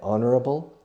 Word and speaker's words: honorable: So the sound of honest or honor or honorable is the sound of a vowel, although the word starts with a consonant.